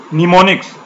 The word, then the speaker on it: mnemonics: निमोनिक्स इसमें एम जो silent है और इसको आप प्रोनाउंस करेंगे निमोनिक्स।